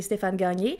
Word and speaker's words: Stefan Gagne: We're gonna have Stefan Gagne with us, or you can pronounce it in French if you're Anto and say Stefan Gagne, which is our way of saying it usually, but we have a new way of saying it.